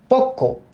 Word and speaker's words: পক্ক: পক্ক, এইটা শব্দটা যখন আমরা বলি উচ্চারিত রূপ আসছে পক, তারপরে আসছে কো, পক্ক।